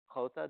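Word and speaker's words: jota: a j or a hota more specifically it's not an English J it's a Spanish quota did I say that right yes any Spanish speakers there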